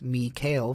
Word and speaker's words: Mikael: request and then texted Mikael pronounced me kale for some reason that